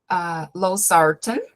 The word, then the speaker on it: losartan: Okay, when we see ARBs, most common one is losartan. Losartan, o estresse está ali na segunda sílaba da palavrinha.